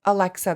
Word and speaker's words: Alexa: nails a little shorter hey actually it's Alexa that's how you pronounce my name you know [ __